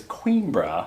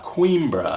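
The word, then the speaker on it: Coimbra: you say it appropriately i believe the pronunciation is queen bra queen bro however i feel comfortable saying coin bro because i obviously because we don't know how you know correct i think the uh it's a real town in a real place which is why there's a real pronunciation cool way to say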